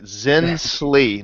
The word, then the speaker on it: Zinsli: We got to make sure we pronounce his name right. Zinsli, Nikolai Zinsli.